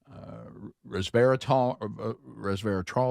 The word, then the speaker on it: resveratrol: And, of course, we've got also, we've got resveratrol, is how you say it?